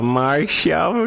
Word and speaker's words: Marshall: Nome é esse que tem uma pronúncia igual a martial arts, artes marciais. Ah, é de luta. Marshall de marcial.